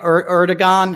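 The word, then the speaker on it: Erdoğan: Erdogan. I always say his name wrong. It's not a hard G.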